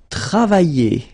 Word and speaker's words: travailler: And then the first one, it will be travailler. Travailler. Okay, remember when you get this I and then double L like that and a vowel. I. Travailler.